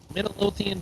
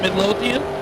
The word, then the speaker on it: Midlothian: top end Kenny promps and Terry Stewart Stewart Midian Texas Runner is that is that no not how you pronounce it Midlothian Midlothian is that not what I said oh